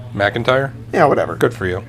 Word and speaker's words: McIntyre: don't care hey Joey McIntyre you remember where he's from right what's his last name McIntyre McIntyre yeah whatever good for you it's not Mac it's Mick mispronounced Mac is it